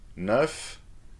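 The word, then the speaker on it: neuf: apprehend french reading so do you need to pronounce the final consonant or not well it depends for you don't but for sunk you eat nerf you do but it doesn't stop here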